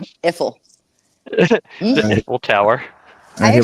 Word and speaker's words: Eiffel: is pronounced Iffle. No, it's not. Eiffel.